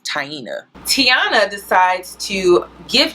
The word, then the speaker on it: Taina: the comment section but her name is pronounced taina tiana decides to give